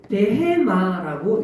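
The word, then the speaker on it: בהמה: 원어로 보면 짐승은 베마라고 읽습니다.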